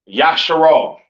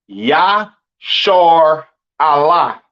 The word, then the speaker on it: Israel: And Israel is not pronounced Yasharal. It's not pronounced Yisrael in the Hebrew. That is not how you pronounce Israel. Israel is pronounced Yashar Allah.